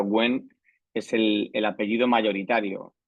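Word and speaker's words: Nguyen: conozcáis un poco Vietnam guyen que se pronuncia genen es el el apellido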